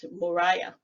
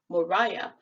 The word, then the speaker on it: Moriah: This seems to be the same phenomenon happening in the Miriam and Moriah names. So Miriam becomes Miriam and Mauyira becomes Moriah or Moriah. This is why the root word for Moriah would be R-A-H and not R-Y-H.